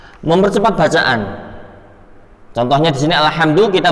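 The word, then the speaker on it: الحمد: Kemudian lam sukun pada kalimat alhamdu. Kita qalqalahkan. Salah. Yang benar kan alhamdu. Tetapi kalau kita qalqalah ale. Walaupun nggak sampai ale banget, hanya terdengar sendiri qalqalahnya itu termasuk al-lahnu al-khafi. Alhamdu hada khata, atau ini salah. Yang betul bagaimana Ustadz? Yang betul alhamdu, nggak ada qalqalah di sana.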